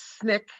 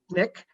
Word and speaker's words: SNCC: student nonviolent coordinating committee known as snik pronounced nick known as sncc mr